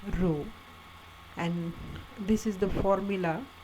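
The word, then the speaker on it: ρ: this is denoted by letter p pronounced as rho and this is the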